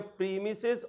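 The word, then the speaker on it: premises: ऐसा प्लॉट जिस पर 4 दीवारी करके एक छोटा सा दरवाज़ा लगा दिया जाए उसे कहते हैं प्रीमिसेस और प्रेमिसेस। जैसे मर्जी प्रोनाउंस कर लें।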